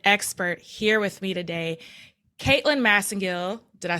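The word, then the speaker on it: Caitlin Masingill: I have the expert here with me today Caitlyn massingill did I say it right you sure did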